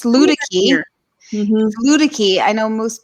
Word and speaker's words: Luedecke: I had to think about how to pronounce it. Yeah, it's Luedecke.